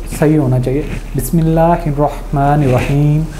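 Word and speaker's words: بسم الله الرحمن الرحيم: बिस्मिल्लाहिर्रहमानिर्रहीम हे को थोड़ा सा खुला पढ़ते हैं, तो आपको सिर्फ इसको प्रोनाउंस करना पहले तो सही होना चाहिए, बिस्मिल्लाहिर्रहमानिर्रहीम।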